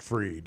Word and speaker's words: Fried: Max spelled Fried Pronounced Freed.